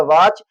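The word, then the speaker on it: watch: टी के बाद में सीएच आ रहा है। और क्या होगा यहां पे? टी साइलेंट हो जाएगा। और हो जाएगा वाच।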